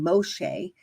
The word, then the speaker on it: Moshe: respect and Authority that Moshe walked in so when I say Moshe that the English transliteration would be Moses and I'm saying Moshe because that's how it would be pronounced in the Hebrew to the best of